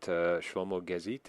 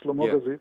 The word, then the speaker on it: Shlomo Gazit: Is it Shlomo Gazit? Is that how you pronounce his name? Yes, exactly. Shlomo Gazit, yes.